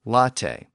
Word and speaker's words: latte: words from those languages we have words in Modern English where the letter e still has that original a sound so for example words like Cafe and Latte and in combination with